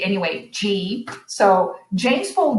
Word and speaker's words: Gee: a second language i i wasn't sure about whether it was ghee or g anyway g so james paul g